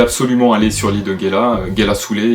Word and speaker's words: Ngela: L'île de Ngela Soulé, le N se prononce de manière un peu aspirée aussi.